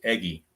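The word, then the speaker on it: Eguy: I When I first started this replay, I didn't know how to pronounce that name, and people have told me it's pronounced Eggy, so I went with it.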